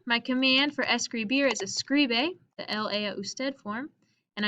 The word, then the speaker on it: escribe: So here, if I think what's my accent or what's my stressed syllable, it's going to be scri. Escri. Oh, it might even have the S. Escri. Escribe. So my second to last syllable has a stress according to the rule.